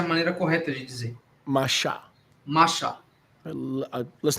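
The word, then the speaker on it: Moshe: Before the rabbis arrived, that's actually the correct way to say it. Isso foi antes dos rabinos chegarem, essa é a maneira correta de dizer. Masha.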